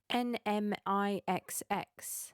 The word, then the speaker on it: NMIXX: their new girl group n-m-i-x-x and it's pronounced n-mix which you know okay